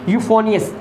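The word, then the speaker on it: euphonious: अब नेक्स्ट है जी यूफोनियस। यूफोनियस, यहाँ पे ई साइलेंट होता है।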